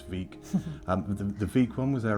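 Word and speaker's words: Vík: They've got two locations, one in Reykjavik and I think one in Vik, which I mispronounced in the video earlier and called Vik, but it's Vik.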